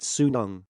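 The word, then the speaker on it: 수능: One reason why Korean kids go to hagwons is to prepare for the Sunyu. It is pronounced sunung.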